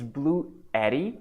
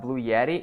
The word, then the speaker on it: BLUETTI: How can I get a BLUETTI? Yeah, by the way, guys, it's BLUETTI. It's not Blue Yeti. It's not the same brand.